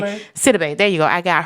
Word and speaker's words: Sidibe: I don't know how to pronounce her last name. Sidibe? Sidibe.